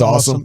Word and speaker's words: Asim: We got the pronunciation guide. Okay. I like either one. You went with awesome. Asim or awesome. Yeah, it's awesome.